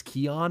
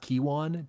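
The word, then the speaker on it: Kyjuan: lane for Kan, which I apparently learned it's Keon and not Kiwan, despite his name being spelled Ky Juan.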